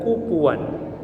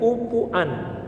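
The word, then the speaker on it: كفوا: Ada 3 cara membaca kata kufuwan dalam ayat tadi. Cara bacanya yang paling populer kufuwan, tapi dia juga bisa dibaca dengan kufuan, bisa juga dibaca dengan kuf'an.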